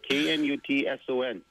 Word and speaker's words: Knutson: K-N-U-T-S-O-N, Skylar. You're going to have to teach people your last name. Knutson, I guess. Yeah. Yeah. She's not nuts. Knutson. Knutson.